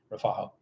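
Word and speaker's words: refajo: drink in Columbia is something called rafo r e f a j o I think it is rafo and rafo is um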